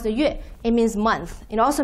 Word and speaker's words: 月: Okay, so first one, the word is yue, pronounced the yue.